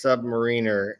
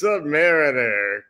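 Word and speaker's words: Sub-Mariner: go, Stan, for years, my uncle has been insisting that it's submariner. And I go, how is it pronounced? And he goes, well, I hate to tell you this, Billy, but your uncle's been wrong for years. And he goes, it's submariner.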